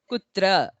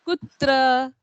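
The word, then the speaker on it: कुत्र: it's an interrogative so don't say kutra it is kutra where okay k-u-t-r-a i'll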